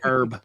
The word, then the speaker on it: herb: But if you're talking about the plant, you know, the herbs, you just you leave the H off and say E Rs.